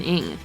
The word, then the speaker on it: Ng: Oh, Captain Ring. It's Ing. Oh. It's like ring, but without the R or the I.